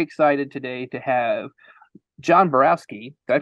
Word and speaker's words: Borowski: very very very excited today to have John Borowski did I pronounce that right John yes awesome a documentary